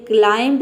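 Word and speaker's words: climb: डम यानी कि गूंगा क्लाइम मतलब होता है चढ़ना ये क्लाइम नहीं होता है इसको हम बर्ब प्रोनाउंस नहीं करते हैं बी साइलेंट रखते हैं ये होता है क्लाइम जिसका मतलब होता है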